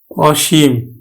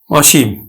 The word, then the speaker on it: অসীম: অর্থ প্রকাশ করে তাহলে আদ্য টা অ এর মতে উচ্চারিত হবে ও এর মত উচ্চারণ হবে না তাহলে আমরা উচ্চারণ করব কিন্তু অসীম অসীম তারপরে অধীর ধীর নয়